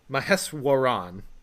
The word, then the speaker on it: Maheswaran: I think it's actually Dr. Maheswaran. That's how I would say it, yeah. But that's not how I pronounced it in the recording, and by the time I realized that I was injecting an extra syllable in there, it was way too